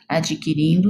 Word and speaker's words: adquirindo: Para nos manter informados, adquirindo novos conhecimentos. Para nos manter informados, adquirindo novos conhecimentos. Adquirindo o D é mudo, tá?